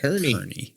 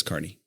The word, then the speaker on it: Kearney: And I'm glad you know how to pronounce Kearney. We have had some people from outside the community call it Kearney. Yeah. And I'm like, no, it's Kearney.